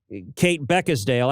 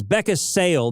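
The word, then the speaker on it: Kate Beckinsale: davidson get get uh kate beckesdale i got yeah i guess it's becca's sale there's no d in it so i mispronounced her name um and they went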